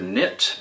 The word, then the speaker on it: knit: forerunner of modern governance the mysterious silent k has puzzled linguistics experts for many years we see it not only in front of the word knit but there it is